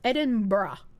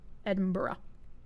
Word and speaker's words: Edinburgh: It's pronounced Edinburgh. Edinburgh.